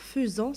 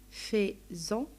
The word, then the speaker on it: faisant: On va faire seulement attention là, le verbe alors faisant, ce n'est pas faisant, parce qu'on sait que le phonème AI, ça donne fait et, mais là, ça se prononce faisant.